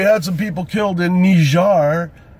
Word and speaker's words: Niger: Yes, well, we had some people killed in Niger. It's Niger, you cockbiters, and if it looks like fucking nigger, that ain't my fault. It's not pronounced that way. Look it up in the dictionary.